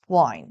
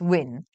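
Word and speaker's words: Wynn: So I'm sure you guys have heard of the name James Wine or James Win. I think it's pronounced Win, right? Because he's trying to win.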